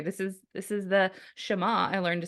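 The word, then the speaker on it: Shema: my gist here this is this is the shama I learned to say correctly because I'd been pronouncing it with the Kentucky accent of Shima all my life then Adam corrected me um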